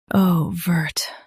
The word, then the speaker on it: overt: OVERT. Now read the syllables shown on the screen naturally. O. Vert. OVERT. Stress O and keep vert clear.